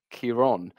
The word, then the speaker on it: Ciarán: However, his name does not have a fother, which is an accent on the second A, and this storm does, which, in theory, creates a different sound. It tends to elongate the vowel sound, and so rather than Ciarán, it's Ciarán.